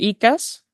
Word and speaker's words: Icas: Y bueno, me tocó en principio en la carrera, como te decía, tuve Doctor Icas, así se pronuncia.